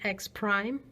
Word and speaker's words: X prime: X is X but your output is not just X with apostrophe it's just X Prime that's how you say it so if you